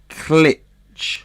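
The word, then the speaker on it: Klich: let's go over to matthias clitch is that how you say it yep okay what you're saying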